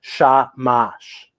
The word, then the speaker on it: shamash: you might be celebrating the word shamash is hebrew and is pronounced shamash the yiddish word it